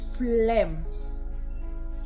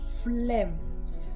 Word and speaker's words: phlegm: Or we can also call it phlegm. Phlegm.